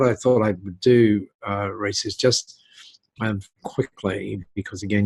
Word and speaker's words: Rhys: By the way, last time I heard someone with the name spelling you have, I called them Rhys because they were in Wales. That is 100% the correct way to pronounce it.